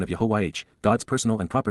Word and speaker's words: Yahowah: YAHOWAH, YAHOWAH, the proper pronunciation of YAHOWAH, God's personal and proper name based upon Haya,